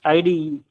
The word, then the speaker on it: IDE: Okay, Sir, it's not idle. It's IDE. IDE means Integrated Development Environment.